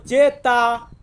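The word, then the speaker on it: zeta: হচ্ছে ওয়াই জেড জেড জেড কে আমরা Italian ভাষাতে বলবো জেতা জেতা মানে হচ্ছে জেড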